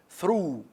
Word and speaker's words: through: Through, like to.